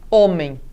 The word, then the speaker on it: homem: É o exemplo de homem, por exemplo, que em latim se pronunciava homo, né? Então, com esse H aí forte e pronunciado aspirado. Ele vem para o português, se mantém, mas não se pronuncia, tá bem?